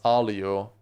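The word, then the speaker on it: aglio: It's written uglio but pronounced alio.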